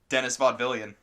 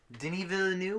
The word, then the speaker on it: Denis Villeneuve: be directed prisoners who Dennis vaudevillian denis villeneuve which is how you say isn't yeah Dennis what